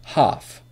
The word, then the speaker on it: half: ghost is silent and the L in F is silent so listen closely bomb ghost half not bump go host half these the strongly